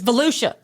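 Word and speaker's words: Volusia: We're probably both wrong cuz Valia ain't got no H in it. It's Valuchia.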